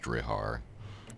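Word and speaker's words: Deartháir: It's Dearthair, and there's like an accent mark in there somewhere. It's just really confusing looking to begin with, and then it's apparently pronounced Drihar.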